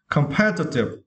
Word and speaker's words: competitive: Okay, and for the next word, for this word, yeah, and for the syllable, we need to stress pair, okay? Competitive.